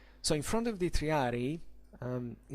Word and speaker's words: triarii: encampments of the triadi please don't say three rei because the pronunciation is triadi it's two eyes you don't have to say triarii so the treyari were do